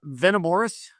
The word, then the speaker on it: Venamoris: how do you uh how do you say the band name uh Venom Morris Venom Morris yeah venor we basically took the vena Amores phrase which is the the